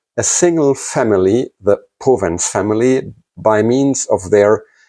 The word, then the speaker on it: Powenz: The English reader may pronounce it Powenz, but the German way to pronounce this family, his family name is actually Powenz, so it's the Powenz Pack.